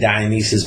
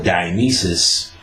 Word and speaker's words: Dionysus: Traditions of Shiva and Dionysus by Alan Dandalou, Alain, last name Danielou, or Dionysus, because it's pronounced Dionysus sometimes and Dionysus.